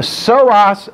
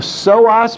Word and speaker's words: psoas: They pronounce the P oftentimes when we do this, and somebody might say the iliopsoas.